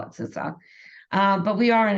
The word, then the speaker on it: CISA: and we've been informed that that's how you pronounce it not cisa like we thought about sisa so if you want to be right and sound impressive make sure you call it sisa um but we are in a Shields up